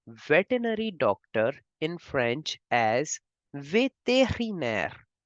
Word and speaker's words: vétérinaire: We say veterinary doctor in French as vétérinaire. We can divide this word as ve, te, ri, ner.